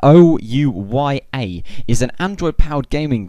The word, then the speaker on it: Ouya: of that and also Ouya I think it's spelled like that I think it's said like that oh U ya is an Android powered